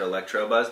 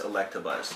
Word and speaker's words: Electabuzz: still cool to get you said his name wrong you said electro buzz that's electabuzz electabuzz that's before it's like a different